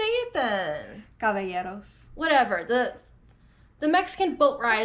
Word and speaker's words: Caballeros: Caballeros.